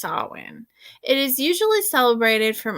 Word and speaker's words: Samhain: modern times saulin um a Gaelic word pronounced saw in like you know some people call it Samhain because that's how it's written but it is pronounced Sawan it is usually celebrated